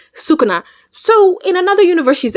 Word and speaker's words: Sukuna: Anyways, I can't believe Mitsuki stole Katsuki from Cinderella and Sak Sakuna. Sukuna.